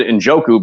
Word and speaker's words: Njoku: favorite tight end, David Njoku, who is actual David Njoku, but Joe can't pronounce anybody's name correctly, as we've seen.